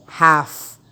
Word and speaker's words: half: na meaning yan Pero ito lagyan ng L dito silent L half kalahati yun in Tagalog